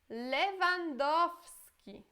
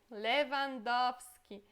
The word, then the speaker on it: Lewandowski: Lewandowski. Lewandowski.